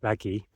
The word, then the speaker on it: Vägi: It's pronounced Väki, and it means power, strength, or energy, I guess, in Estonian.